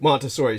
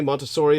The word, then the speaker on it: Montessori: oh the uh now am I pronouncing it correctly Montessori or Montessori how is Montessori Montessori yeah kind of like Monastery and uh so it's